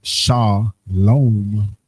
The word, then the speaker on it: shalom: The transliteration is that salom salom which is pronounced sha lom which you see was kind of like that second one they added the vow you go down.